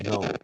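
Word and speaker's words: know: The spelling is K-N-O-W, but pronunciation is no. K is not pronounced.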